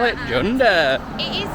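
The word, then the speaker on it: Cunda: Gund chunda whichever you want to call it junda it is spelled Gund yeah you but it's pronounced appar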